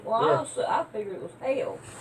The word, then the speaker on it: Haile: That's His name is Hyla. Hail it's like- Selassie is the way. it's Hyla is pronounced. his name? Well, I figured it was Hail.